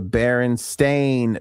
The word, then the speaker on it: Berenstain: The Berenstein Bears, the lovable cartoon bear family, actually spelled their last name with an A. The Berenstain Bears, not the Berenstein Bears, even though it's pronounced Steen.